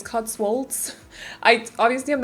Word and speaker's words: Cotswolds: inspired by england to cuts wolves i think that's someone corrected me because i think i called it cuts wold the other day but it's cotswolds i obviously i'm not